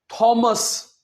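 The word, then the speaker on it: Thames: सो आपने थेम्स नहीं कहना। हां, हिंदी में इट्स ओके। आप थेम्स बोल सकते हैं। बट इंग्लिश में आपने थेम्स नहीं कहना। क्या कहना है? थम्स।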